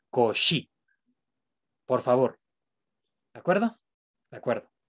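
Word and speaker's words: Cauchy: transmiten el español entonces no se pronuncia couch y se pronuncia cosa es y esta y se pronuncia como vocal es y y la achs pronuncia entonces cogí por favor de acuerdo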